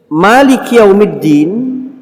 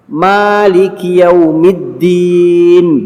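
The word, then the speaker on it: مالك يوم الدين: bacaan dulu Maliki yaumiddin bisa dibaca dengan dua macam bacaan Anda boleh membaca panjang mimnya Maliki yaumiddin boleh dan Anda boleh membacanya pendek Maliki yaumiddin boleh keduanya datang dalam 9 membacanya panjang tapi 7 qiroah lainnya membacanya pendek alhamdulillahirobbilalamin Maliki atau boleh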